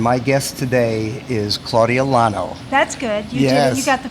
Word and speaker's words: Lonow: the improv and my guest today is Claudia la no that's good yes the pronunciation right you should I've had plenty of